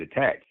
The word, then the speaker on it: ATAC: So we formed a group called Avenging the Ancestors Coalition, ATAC, and we pronounce it attack.